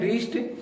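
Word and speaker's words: wrist: दूसरा वर्ड लेते हैं रिस्ट डब्लू आर आई एस टी रिस्ट मीस क्या होता है कलाई होता है इसमें डब्लू के जस्ट बाद क्या है आर है इसमें हम डब्लू का उच्चारण नहीं करेंगे रिस्ट मीस होता है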